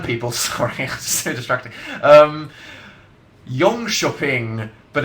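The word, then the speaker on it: Jönköping: sorry so distracting um Yong shoing but it's spelled j n k o s h o p i n g so it's a silent k which is pronounced like a sh go Sweden uh it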